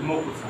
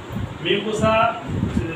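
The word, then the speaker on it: mucosa: এটা হলো প্রথমে মিউকোসা, তাই না? মকুচা, হ্যাঁ, মিউকোসা, মিউকোসা, উচ্চারণ হলো মিউকোসা।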